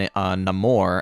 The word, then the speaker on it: Namor: they get attacked by the talocon people and Namor as he's pronouncing himself in this movie so that's how